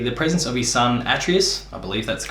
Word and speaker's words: Atreus: And this is largely brought about by the presence of his son Atreus. I believe that's the correct pronunciation, correct me in the comments if I'm wrong.